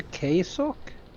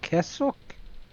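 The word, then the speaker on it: Kessok: So, I'm going to guess who are the queso or Kessuk in what? Stoaltch. Can you spell it? K E S O K. Um, Kesak or civilization of life fors native to the alpha or beta quadrant.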